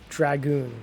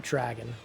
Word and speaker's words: Dragoon: This Dragoon, not Dragon. I read that as Dragon the first time.